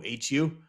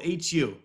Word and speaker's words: Hu: you can really yeah it's called hu pronounce who Mongolian rocks crazy they